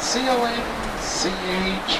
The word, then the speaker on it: conch: And that's spelled C-O-N-C-H, but it's pronounced conch.